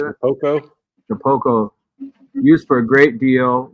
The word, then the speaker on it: Shapeoko: Shapico? How do you say that? Shapoco? Shapoco.